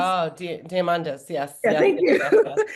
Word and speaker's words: Diamandis: So And where do you see then like these rooms and I'm like Peter, I can't remember pronounce his last name, Diomedes, I think it's. oh, Diamandis.